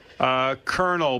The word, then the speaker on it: colonel: Kernel, but like the kernel of corn. K-E-R-N-E-L. Well, right. Colonel is, as in Colonel Sanders is with a C, right? It Yeah. looks like clonal if you pronounce it.